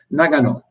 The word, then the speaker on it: Nagano: what he was saying he was saying negano and in my mind all i'd heard from japanese people was nagano and so or that's my attempt at a japanese pronunciation um but and it